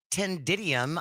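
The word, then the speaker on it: ctenidium: this this first word tendidium I think that's how it's pronounced it's spelled c t e n i d i u m meaning a structure consisting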